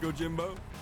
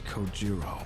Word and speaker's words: Kojiro: The way he deliberately mispronounces my name really bothers me. It bothers me so much that the anger boiling inside me gives me strength to open my mouth once more. It's Kojiro.